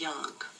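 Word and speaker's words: Jung: personality types uh Carl Yun was is a a um a counselor who we call his therapy technique yunan um some people pronounce it young but anyway he's very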